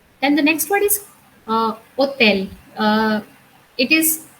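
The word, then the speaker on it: hôtel: We call it hotel because in French, most of the time, the first H is silent or H overall is silent. So we call it hotel.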